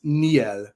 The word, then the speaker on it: miel: So it's miel.